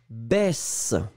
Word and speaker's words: baisse: Yossi, c'est la même différence que poisson, poison. D'accord ? Voyelle, voyelle, SS, un S très très fort. Se, baisse, poisson. Voyelle, voyelle, un S, ze, baise, poison.